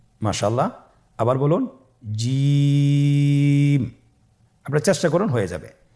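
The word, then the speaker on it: جيم: আপনারা আমার সাথে করুন জিম মাশআাল্লাহ আবার বলুন জিম আপনার চেষ্টা করুন হয়ে যাবে এর মাখরাজ হল জিহ্বার মধ্যখান তার বরাবর উপরের তালুর সঙ্গে লাগিয়ে উচ্চারিত হয়।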